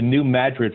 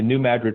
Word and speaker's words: New Madrid: Louis has the second they're actually the most active link earthquake fault in the country it's called the New Madrid fault spelled like Madrid but the New Madrid fault and then we throw in a few tornadoes here and there and you've got st.